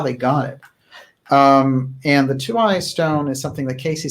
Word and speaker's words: Tuaoi: And the Two-Eye Stone, which is spelled Tuaoi, is something which is